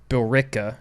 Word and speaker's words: Billerica: and then after that I went down to Billerica is how it's pronounced Massachusetts okay just in between Boston and